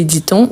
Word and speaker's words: dit-on: Mais on dit la même chose que que dit-on ou que dit-elle ? Donc s'il s'agit de la troisème personne, quand on a cette invion, on prononce bien le T.